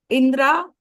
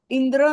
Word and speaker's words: इंद्रा: ठीक है, इंद्रा, इंद्रा, इंद्रा, इंद्र नहीं इंद्रा।